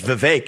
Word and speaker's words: Vivek: we've got that uh vivec rum swamp how the hell do you say this guy's name my name is Vivek it rhymes with cake it ain't about thee